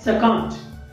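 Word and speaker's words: succumbed: ठीक आहे, तर त्याच्यानंतर बघा की सकम्ड, प्रोनाउन्सिएशन आहे सकम्ड. आता याच्यामध्ये देखील बी हा साइलेंट लेटर आहे.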